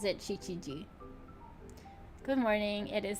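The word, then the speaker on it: 七時: Oh, at least it pronounces it Chichiji. Good morning. It is 7 o'clock. 7時7分です。 It is 9 o'clock. 9時です。今は8時ではありません。 It is not 8 o'clock now. Now! It is 7 o'clock. Shichiji desu.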